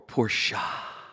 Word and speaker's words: Porsche: Or Porsche. The joke is that the guys that pronounce it Porsche, it's their first one.